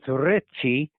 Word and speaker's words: Ricci: I was stationed in Maryland a number of times, and his name was Ricci, R-I-C-C-I, pronounced like Ritchie, R-I-T-C-H-E-Y, like Ritchie Highway down there in Maryland, etc.